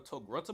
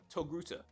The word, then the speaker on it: Togruta: And I think Knight called her a Togrunta before, but that's because he can't pronounce. Hey, I tried! Hey, you failed! You're a failure! Her species name is actually pronounced Togruta.